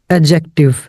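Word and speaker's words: adjective: इसे आपने ऐड एडजेक्टिव नहीं पढ़ना। डी साइलेंट है इधर एडजेक्टिव एडजेक्टिव क्या है आपको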